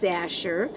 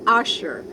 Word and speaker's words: Asher: And when I met Harvey, my last name, as you know by now, was Asher. And I had such a nice thick accent that I was pronouncing it Usher.